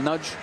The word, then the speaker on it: Nagy: Ouais, c'est compliqué d'avoir une stabilité sur le nom donné à Cornel Nadj. Si c'est avec l'accent, en essayant de respecter la prononciation hongroise.